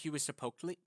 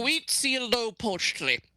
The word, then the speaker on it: Huitzilopochtli: So it's Huitzilopochtli. Fuck. I'm bad at pronunciation. Huitzilopochtli. Huitzilopochtli.